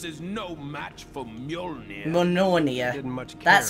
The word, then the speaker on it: Mjolnir: Mjolnir. That's how you pronounce it.